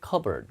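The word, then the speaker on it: cupboard: 그 다음에 이 찬장을 영어로 뭐라고 하냐면 이렇게 쓰는데 이게 발음이 컵보드가 아니라 P가 묵음이고 cover 들어가거든요. 발음 여기가 보드가 아니라 버로 바뀌어요. covered 이렇게 발음해요.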